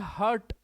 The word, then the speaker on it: heart: HEART का pronunciation होता है हार्ट, जबकि HURT का प्रोनाउंसिएशन होता है हर्ट। ये हार्ट है, ये हर्ट है।